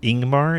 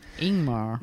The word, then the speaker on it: Ingmar: ago and I think you said Ingemar is that he pronounces name Ingmar yeah Ingmar Bergman and who you made